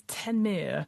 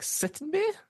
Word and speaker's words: Ctenmiir: But yeah, because I was like, Sittenmir? Yeah, Tenmir. I believe it's Tenmir. Yeah, it's CTENMIIR.